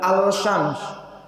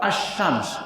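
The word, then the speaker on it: الشمس: tertulis tapi tidak terbaca Bukan al-shams tapi as-syams elektronnya kemarau mabuk tertulis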